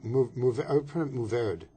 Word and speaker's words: Mourvèdre: okay, I would pronounce Mourvèdre. Mourvèdre? Mourvèdre. Anyway, Mourvèdre.